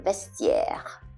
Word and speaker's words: vestiaire: When the TI is followed by a vowel, but preceded by an S, then you have to pronounce the T, as in vestiaire. Vestiaire is a locker room. So vestiaire, okay, so you hear the T, vestiaire.